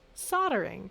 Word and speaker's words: soldering: American English even though it's spelled soldering it's pronounced soldering so when people hear that word and they